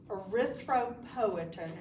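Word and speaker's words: erythropoietin: This is a hormone arythropoin is how you pronounce it.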